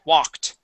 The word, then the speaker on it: walked: um so here uh yes it is an a sound but that L is going to be silent so it wouldn't be W wed okay uh take that L out W walked Walked there you go okay